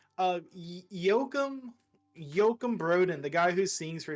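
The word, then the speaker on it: Joakim Brodén: that's how you say his name uh Yokum Yokum Broden the guy who sings for Sabaton he he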